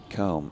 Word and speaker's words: McComb: And my surname is pronounced Combe, as in brush, and McComb.